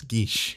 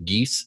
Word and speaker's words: Geas: lot of comments saying that it's Geish. Yeah, in the just real like life, right? In the real life, most people I know have always called it the geese spell, but whatever. Like, I'll pronounce it the proper way.